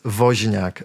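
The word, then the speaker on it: Wozniak: make a guess okay so his surname is vak vak again this Latin sound does not exist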